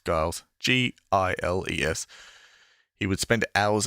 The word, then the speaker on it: Giles: found time for guiles i've been pronouncing it right giles giles g-i-l-e-s he would spend